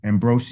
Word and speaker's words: Ambrosius: Ambrosius.